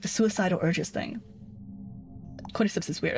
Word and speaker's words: Cordyceps: Cordyceps, right? Am I pronouncing that right?